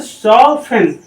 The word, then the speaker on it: soften: ये वर्ड पढ़ा जाएगा लिसन, SOFTEN। यहाँ पर भी 10 आ गया, ये वर्ड क्या पढ़ा जाएगा, टी साइलेंट हो जाएगा तो सॉफ्टन, ये वर्ड को पढ़ा जाएगा सॉफ्टन।